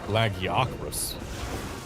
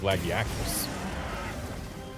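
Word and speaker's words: Lagiacrus: who pronounced it lag yakus instead of lagakas.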